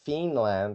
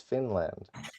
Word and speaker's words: Finland: Because Finland is pronounced with a short I. It's not Fiinland, it's Finland.